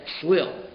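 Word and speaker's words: צליל: It's written one way and it's pronounced another way. And we'll see later on what that means. So it's written Salul, but it's read Slil. So he says, Slil lechem sorim misapech b'machane midyan.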